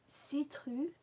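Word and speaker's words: céruse: it's a la bohem another French one see truth I see truth okay with a th at the end ah not a s not a harder citrus I guess we should say it like the French say it I love this one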